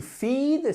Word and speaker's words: feed: To feed, c'est un i long.